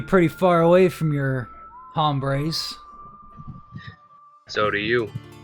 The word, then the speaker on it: hombres: Seem to be pretty far away from your hombres. So do you. It's pronounced ombre, actually.